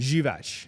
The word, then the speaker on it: Grzywacz: Grzywacz. Grzywacz, Yeah, okay. yeah, Polish.